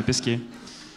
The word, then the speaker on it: Pesquet: Pesquet, pardon, je le prononce mal, ouais, Pesquet.